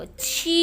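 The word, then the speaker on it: 七: Go นะ มี ตัว นี้ ก็ คือ ตัว ชี้ นะ คะ ค่ะ ชี่ แปล ว่า เสร็จ นะ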